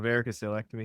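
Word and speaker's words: varicocelectomy: Paul Gittens: No, varicoselectomy.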